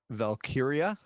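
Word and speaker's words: Valkyria: So, let's get to Becky Lynch and Lyra Valkyia.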